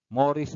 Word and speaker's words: mores: Okay? Morris or Morris ang ating pronunciation diyan.